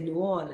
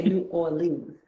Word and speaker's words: New Orleans: it a certain way they said you say new on and you don't say New Orleans New Orleans so I think I